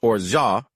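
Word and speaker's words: orgeat: O R G E A T is pronounced orha.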